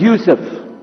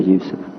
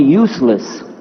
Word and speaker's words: Yusuf: My name is Yusuf. Can you say Yusuf? You say Yusuf. Yeah, very good. I wish you'd teach my wife. She keeps mispronouncing it. She calls me useless.